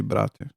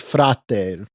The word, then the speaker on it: frate: I mean, they have a lot of Slavic words, but I never heard them say brate. It's frate.